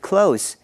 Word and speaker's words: close: Oscar 跟阿姨之间的关系很亲近。他说 She and I are quite close. 我们来看 close 这个字，它在这个句子里是形容词，亲近、亲密的意思。发音是 close。close 做形容词其实有很多不同的用法。两个关系很亲密的朋友可以说 We are very close。地点上距离很近，可以说 My